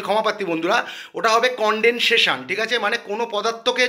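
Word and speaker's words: condensation: একটা জিনিস ভুল বলেছিলাম যে কন্ডেনশন মানে ঘনিভমনের ইংলিশটা কন্ডেনশন নয় কন্ডেন্সেশন ওর প্রোনাউন্সিয়েশনটা আমি ভুল বলেছিলাম তার জন্য আমি ক্ষমা প্রার্থী বন্ধুরা ওটা হবে কন্ডেনসেশন ঠিক আছে মানে কোন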